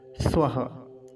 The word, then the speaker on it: स्वः: तीसरा शब्द देखिए ये वाला, स्वः। स्वः तो आसान है, स्वः। अब कुछ लोग स्वाहा कह देते हैं, स्वाहा, वैसा स्वाहा नहीं कहना है जैसा आहुति लगाते समय स्वाहा बोलते हैं।